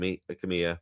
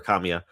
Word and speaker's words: Kamiya: I probably will purchase the sequel on day one because I I I'm a fan of Adekki Kam Kamya, right? Or Kamiya, if I should say his name correctly if I'm a fan.